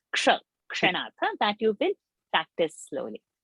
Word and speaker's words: क्षणात्: Only now you have to learn how to pronounce ksha, kshanat. That you will practice slowly. So K-S-H sound should come ksha and not sha.